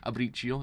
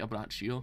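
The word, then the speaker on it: Abbacchio: I actually said Abricio. It's actually Abraccio. I was like, yeah, now looking at it, it's actually an A, not an I.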